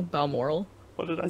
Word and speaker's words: Balmoral: I think it's Balmoral Castle. Oh, but It's Balmoral. Balmoral.